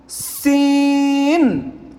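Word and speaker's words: س: যা উপর এক নক্তা এরপর সিন সিন হ্যাঁ পাতলা সিন সিন খালি সিনের মধ্যে কোন নক্তা নেই তারপর শিন এটা মোটা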